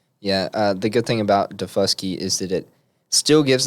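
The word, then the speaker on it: Daufuskie: It's called Defusky You got it.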